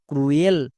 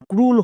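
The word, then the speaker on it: cruel: এল এর জন্য লো, ক্রুয়েল। বাট এটা সম্পূর্ণ ভুল, এর উচ্চারণ ক্রুয়েল হবে না, এর উচ্চারণ ক্রুল হবে।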